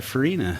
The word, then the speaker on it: Farinha: are joined by a special guest uh lisa farina am i pronouncing your last name correctly yes is that